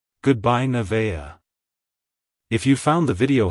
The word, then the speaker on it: Nevaeh: then smoothly transition to the second syllable, vay, with a slight emphasis on the I sound. Finish with a soft, at the end. Like, hello Nevaeh. Goodbye Nevaeh.